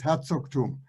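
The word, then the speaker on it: Herzogtum: him also and you climb so again it's herzog tomb and the second name mine mine that's just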